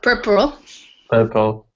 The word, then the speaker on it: puerperal: Semmelweis wanted to figure out why so many women in maternity wards were dying from I don't know how to pronounce it. Puerperal, Thank you.